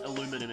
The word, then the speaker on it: aluminum: Australian English um and it's aluminum in American English H so we